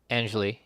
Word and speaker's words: Anjali: at 90 on twitter just thank her because angelee right that's that's how you say her name angelique ranadevae anjali yep angeli ranadive yesterday joined the kings family